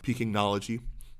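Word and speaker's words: Pekingnology: n o l o g i g y pinology Tian Wong was here in Zurich I understand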